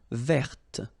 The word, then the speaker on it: verte: Feminine form, verte. So listen carefully. I don't say te, but it's t. Verte. Verte. Okay, so as usual, this final E only gives you the possibility to pronounce this t.